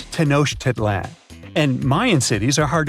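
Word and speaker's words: Tenochtitlan: It's Tanosh Teditlan. And Mayan cities are hard to pronounce too.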